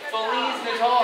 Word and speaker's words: Feliz Natal: Feliz Natal. Feliz Natal. What? Feliz Natal. Feliz Natal. Natal. Natal. Natal. Oh, Natal, not L. It's not an L. Natal. Natal. Okay, you say Feliz Natal, see you in the next episode.